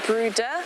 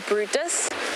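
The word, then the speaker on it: Bryde: you a sighting and you'll notice i say brutus and you'll read the brides and we are apparently supposed to pronounce a brooder or brutus because it is a norwegian name so it was named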